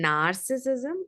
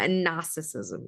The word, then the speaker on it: narcissism: Now, again, note, I'm not saying narcissism, I'm saying a narcissism, right? Again, the R is silent.